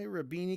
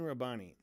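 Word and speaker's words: Rabbani: I always want to say rabini because it rhymes with moen. Um, but it's Mu Rabani.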